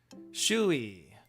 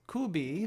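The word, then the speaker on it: 首位: Shui. And it's not kubi, but it's shui.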